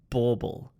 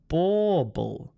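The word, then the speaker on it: bauble: we pronounce this word bble it sounds a little bit like bubble but it's got an or bell sound so it's bble bble bble got it all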